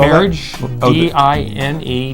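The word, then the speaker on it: Diné: marriage, Oh, D-I-N-E, Dine is the Navajo like word dying.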